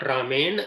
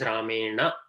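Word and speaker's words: रामेण: It is not Ramen, it is Ramena. So unless there is a halanta, we have to say the full sound.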